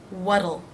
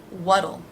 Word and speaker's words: what'll: again what will again the tea here will be pronounced as a d it's flapped what'll what'll and you'll notice the contraction adds a second unaccented syllable what'll what'll it be